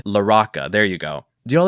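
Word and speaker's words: LaRocca: I wanted to Latinify it and pronounce it La Roca, but I watched an interview earlier to get the pronunciation, and they said La Roca. Or, see, I'm doing it again. They said La Roca.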